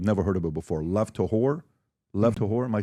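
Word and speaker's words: Lev Tahor: Lev to Levore. Am I saying it correctly? Lev to Lev to It's a Hebrew for essentially the pure ones.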